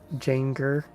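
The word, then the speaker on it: Jangerberries: they're wrong are doing come on jinger not ginger let me let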